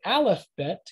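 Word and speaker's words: אלף בית: letters of the alphabet you've heard people probably say aleph bet because that's how hebrews pronounce it the greeks pronounce it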